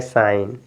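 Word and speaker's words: sign: है तो यहां प जी आपका साइलेंट इसको पढ़ेंगे साइन एस आई जी एन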